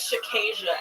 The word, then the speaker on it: Shakia: got stuff to do how do you say your name my name is shakia actually BR is just